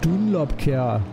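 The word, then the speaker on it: Dunlopkehre: It's also been named Dunlop oder Dunlopkehr. Again, to take it with the correct German accent.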